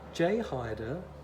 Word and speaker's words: Jay Haide: just happen to have this is a j hider and i believe that's about the right pronunciation j hider 16 inch and this